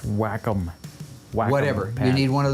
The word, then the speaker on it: Wacom: get on that oh it's pronounced wacom whatever you need one